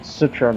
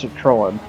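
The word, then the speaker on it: Citroën: God, cuz Yeah, I need to start saying that because Yeah, I've been pronouncing Citroen wrong. It's Catroan. You have to have that Owen in it.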